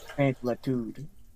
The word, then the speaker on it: mansuetude: She started scratching her jowls to demonstrate the smith's, mansuetude. I do not know that word. That is a fancy word. Narcy has this crazy vocabulary. That means gentleness, apparently. Mansuetude. How do you pronounce it?